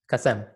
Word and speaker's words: Kasem: Hey, did I say Kasem? Kasem? Kasem. Tell me how to say it. Kasem.